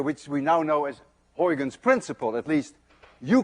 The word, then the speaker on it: Huygens: You see, this sound, UY, is pronounced in Dutch as ui. None of you can say ui unless you're Dutch. To make it worse, this sound you don't have either in English.